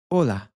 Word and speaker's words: hola: point out is that the h is silent in Spanish. You can see this happen with hola. We're basically skipping over the h in our pronunciation of the word hola.